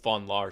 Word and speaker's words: von Laer: genesis story tell us the the dr von lar story uh first of all kudos for pronouncing my name correctly and also it's it's